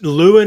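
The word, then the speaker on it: Llewyn: it's Lewin or Llewellyn. You Okay. can say it either way. Because like in No Country for Old Men, it's Llewellyn, but in this movie, it's Lewin.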